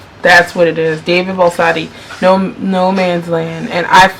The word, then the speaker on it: Baldacci: David Baldacci.